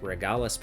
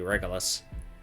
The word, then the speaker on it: Regulus: So this card is a Regulus piece, which in my Dear Days 1 videos I was pronouncing that as Regalis piece, but I think it's supposed to be Regulus.